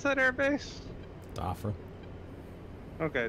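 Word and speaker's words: Dhafra: How do you pronounce that air base? Doffer. Okay, Dafra.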